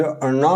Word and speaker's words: ण: इस मूर्धन्य ना का उच्चारण करते समय जीव मुख के ऊपर को, यानी ऊपर वाले दांतों के पीछे मुख के कठोर भाग को छूती है, इसलिए इसको मूर्धन्य ना कहते हैं।